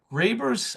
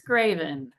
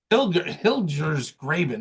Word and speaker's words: Hilgers Graben: colleague Rose Jones has joined us today from Graber's. I'm going to mispronounce the firm, but Rose can introduce. Hilgers Graben. Hilgers Graben.